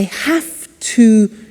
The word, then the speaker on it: have to: I have to notice I don't say V I say F have half it becomes have to have the two becomes in